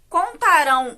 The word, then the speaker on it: contarão: o tá, enquanto o contarão o boato por toda parte, né, esse verbo contarão, está no tempo futuro e tem como sílaba tônica esse finalzinho, rão, com a, ó, tio,